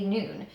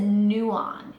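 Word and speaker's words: Nuun: say it last night I googled how to say noon I always said new on in my head and I still like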